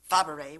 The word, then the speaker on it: Fabray: It's pronounced many ways. My niece Shelley Fabray uses Fabray, which is one of the pronunciations.